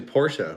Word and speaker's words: Porsche: would think um just like porsche is actually porsha which i always bothered me because i didn't